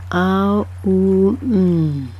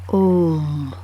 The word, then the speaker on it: Om: It sounds as 2 letters, but it's actually 3 syllables. A-U-M. In short, Om.